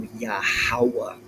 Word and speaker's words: Yahawah: So Yahawah not Yahweh Yahovah Yahai Yah who Yahoo